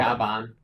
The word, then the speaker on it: Gavan: Gavin. Gavin. Gavin. Gavin. There's also a B there in the Japanese pronunciation of gan. Gaban.